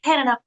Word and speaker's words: Hannaha: So for you, Hannaha, is that pronouncing that right?